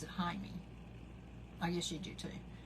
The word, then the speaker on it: Jaime: But they pronounce it Jaime.